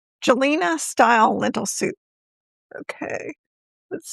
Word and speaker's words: Gjelina: So, um, Jay, Jelina or Jelina, they said they pronounced it Gelina.